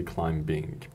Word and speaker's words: climbing: grammatical mistakes and mispronunciations like climbing if you don't say climbing B is not pronounced B is silent here or we have